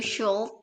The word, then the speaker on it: should: You should buy an umbrella. Iya, correct. Should should lah gampang. Don't pronounce the padahal ada L-nya ya.